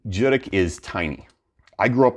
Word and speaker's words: Judique: My hometown in Cape Breton is called Judique. You don't pronounce it Judique, by the way. Anybody out there who's pronouncing it Judique, it's not two syllables, Judique. You just run that stuff all together. Judique is tiny.